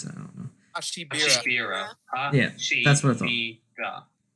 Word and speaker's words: Hashibira: Meanwhile, Nezuko is led away under strange circumstances and runs into Duma Hashibara, or Hashibara. How do you pronounce that? I don't know. Hashibira.